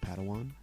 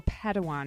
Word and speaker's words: Padawan: assigned a pad one to this bold Jedi pronounced Padawan Oh Padawan excuse me hey it's getting late I think